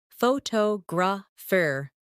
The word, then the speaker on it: photograph: In English, some words are pronounced with extra emphasis on one part. For example, photograph, photographer, and photographic. The stress moves and that changes the sound.